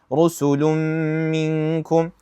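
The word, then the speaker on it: رُسُلٌ مِنْكُمْ: Khawfun alayhim here idgham rusulun minkum we'd say rusulun minkum. Why? We pronounce we pronounce the two letters as one single mushaddad letter that's the same as the second which is the meem here, right?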